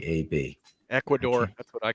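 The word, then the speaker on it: Equanimeous St. Brown: Brown, Equanimous St. Brown. Look at me saying it right, AB. Ecuador, that's what I call it.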